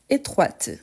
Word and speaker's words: étroite: avez remarqué donc qui quand on a une consonne à la fin normalement on le on ne la prononce pas pourtant quand on ajoute le féminin ce n'est pas les e qu'on prononce mais plutôt la consonne donc faites attention à